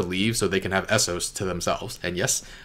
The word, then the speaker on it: Essos: I feel like they want her to leave so they can have Essos to themselves. And yes, I know it's pronounced Essos now and not Essos.